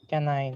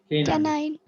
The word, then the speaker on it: canine: और ये हो गया के बोला रे, है ना, के और नाइन, के नाइन है, कैनाइन नहीं, के नाइन, ठीक है। इसलिए डॉग का फियर क्या बोलते हैं जी, साइनोफोबिया ना।